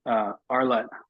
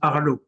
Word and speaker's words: Arlott: this Arlott. A. Pronounced Arlu.